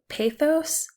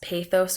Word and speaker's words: pathos: Pathos can be it can be pronounced pathos or pathos. Either one is correct.